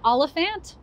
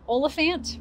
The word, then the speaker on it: Oliphant: of 2018 number 1 Eleanor oliphant olifant for those of you who have read it maybe you know exactly how you pronounce her name Ella for Eleanor olifant is completely fine have you read this